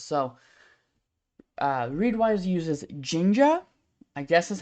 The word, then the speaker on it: Jinja: what it does so uh read wise uses Ginger I guess is how it's pronounced um j-i-n-j-a which is a templating engine